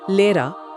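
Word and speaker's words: Lehrer: इसी तरह लेरा मतलब अध्यापक को लेरा जैसा सुना जाएगा।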